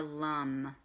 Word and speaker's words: LAM: And the mantra for that is LAM, L-A-M. But the way you pronounce it is more LUM, okay?